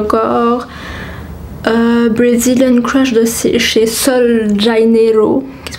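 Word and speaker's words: Sol de Janeiro: parfumée pour le corps, Brazilian Crush de chez Sol Janeiro, qui se prononce comme ceci.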